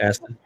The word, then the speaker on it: Astin: I was gonna say, who else besides Sean Austin was there? Anybody else? Jenna sounds exhausted. What is it? Was anybody else there, Jenna, besides Sean Austin? Sean Astin? Aston? Yeah. Austin? Aston. It's spelled ASTIN.